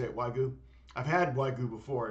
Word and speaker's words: wagyu: Wagyu steak is that how you say it wagyu I've had wagyu before it's so good